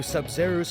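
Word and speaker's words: Sabzeruz: zeros sub sub i i don't know why the a sounds like a u but sub zeros if you just look at it like that is from the z to the other z zeros that that makes sense seb sub zeros i'm sorry i'm just i'm just noticing right now the pronunciation of the a is actually a u what she didn't realize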